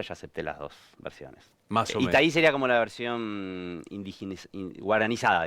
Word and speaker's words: Itaí: Itaí.